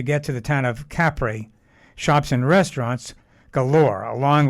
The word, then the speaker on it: Capri: the island of capri the italians actually pronounce it capri we made several stops